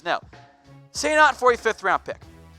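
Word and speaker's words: Senat: diedring say not now I know it's spelled differently but that's how it's pronounced say not strangely has not played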